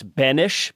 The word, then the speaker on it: Benes: our guest today is banish but it's spelled just b-e-n-e-s so you can find him on twitter at bennis and i'm going to